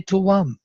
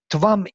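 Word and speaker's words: त्वम्: If I read Tvam Indro Dashushe Martiyaya, that there are 9 syllables. It's even impossible. But that's why I reconstruct Tuvam Indro Dashushe Martiyaya, because there is another samprasarana here.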